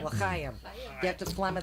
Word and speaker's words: L'chaim: Say it right, L'chaim.